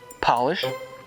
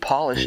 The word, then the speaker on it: Polish: When you capitalize each word, they are pronounced differently. Instead of job, it's Job. Instead of polish, it's Polish. And instead of herb, it's Herb, the name.